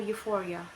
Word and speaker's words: euphoria: EU, pronunciation U, example euphoria. It means exaggerated feeling for well-being.